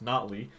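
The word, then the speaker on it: Notley: I was recently corrected today that it's actually pronounced not Lee and I've been pronouncing it wrong for eight months and no one thought to mention it to me how about no body no we'll go on nobly for tonight good evening payo time Canadian Rams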